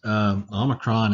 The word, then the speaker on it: Omicron: we start writing these Omicron is very easy it's like and it's pronounced like omelette au and and that's simply what it is just a simple oh just like that very